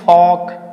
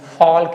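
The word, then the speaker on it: folk: ये क्या बोलेंगे, L को हम प्रोनाउंसिएट नहीं करेंगे, बोलेंगे फॉक, फॉग बोलेंगे, फॉल्क नहीं बोलेंगे, फॉग बोलेंगे, फॉग, ठीक है।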